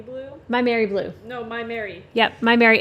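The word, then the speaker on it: Maimeri: to say Miami Blue my Mary blue no my Mary yep my Mary it's spelled weird m a i m e m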